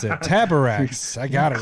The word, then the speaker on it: Taborax: I just had you read the first word so that I knew how to pronounce it. Taborax.